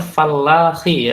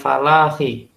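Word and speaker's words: فلاحي: Bacanya fallahi ya, bukan falahi. Beda arti. Ya, Falahi. fallahi. Ya, bukan falahi, tapi fallahi. Beda arti.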